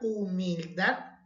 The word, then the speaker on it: humildad: Si analizamos la palabra humildad, lleva la mayor fuerza de voz en la última sílaba.